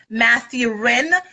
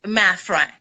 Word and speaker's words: Mathurin: It's actually Mathra, but I break it down for English speakers because I speak a second language. It's Mathurin. That helps people find me and be able to spell it out. So, yes. Okay. Mathhurin is perfect. That's fine because it's very easy to remember, but it's actually pronounced Mathhurin.